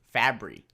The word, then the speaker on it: Fabry: Fabry.